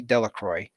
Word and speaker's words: Delacroix: harry jones and dicky delacroix the villagers pronounced his name de la croix eventually made a great